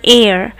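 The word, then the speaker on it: heir: h e i r it is pronounced as the air that you breathe a i r okay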